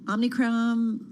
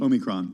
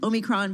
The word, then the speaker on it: omicron: season did the um omnichrome variant did i say it right omicron omicron i knew i said it incorrectly omicron very did that freak